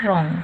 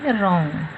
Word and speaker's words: wrong: RIGH right, और WRONG रॉन्ग। W को क्या है, इसको प्रोनाउंस नहीं करने का है, वो रॉन्ग नहीं बोलना है, बट क्या बोलना है, रॉन्ग।